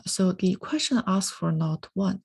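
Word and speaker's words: NotI: does enzyme not one the last letter here is a roman numeral so it's pronounced not one cut pmsh2 all right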